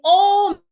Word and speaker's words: almost: The words the sure sound along above about but in almost the letter a makes a different sound almost.